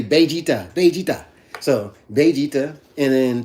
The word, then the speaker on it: Vegeta: Number one, Vegeta. Correct pronunciation, by the way.